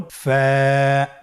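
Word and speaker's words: ف: ফা হরফটি উচ্চারণের ক্ষেত্রে বারিক হবে এবং এক আলিফ টেনে পড়তে হবে। আপনারা আমার সাথে আবার বলুন। ফা।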